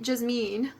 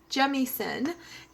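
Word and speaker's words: Jemisin: Jasmine, let's see, I said her name totally wrong, Jemison, N.K. Jemison, and I probably said her name wrong still, and I apologize.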